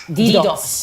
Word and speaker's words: DDoS: What is and then tell us, what is correct, how to correctly pronounce it. Is it DDoS or DDoS attack? What is it? DDoS.